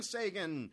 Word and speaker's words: Sagan: That was brought to you by Brian Sagan. Rhymes with Menachem Begin.